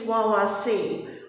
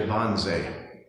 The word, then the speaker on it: Wannsee: It's spelled with a W, but Germans pronounce W's with a V, so it's Bauway instead of BW.